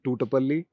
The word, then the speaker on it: Thutupalli: I'll try to pronounce his name right. Shashi Thutupalli.